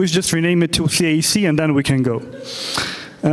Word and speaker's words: CAC: This ratio written over here should be pronounced LTV divided by CAC.